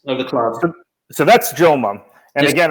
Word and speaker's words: Joma: So that's Joma. And yes, again, or Homa. Homa is how it's properly pronounced, the Spanish pronunciation.